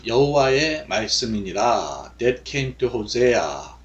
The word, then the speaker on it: Hosea: That came to Hosea. Hosea. 자, 우리 호세아 그랬는데 이제 영어식 발음 호세아 이렇게 하죠.